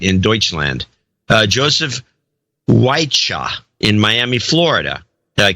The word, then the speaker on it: Wiche: says if it matters my last name is pronounced white sha white you like the